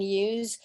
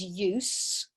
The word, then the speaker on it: use: And the verb would be, yeah, okay, again, use. Notice here the pronunciation is different. So the noun is use and the verb is use with a more of a Z sound.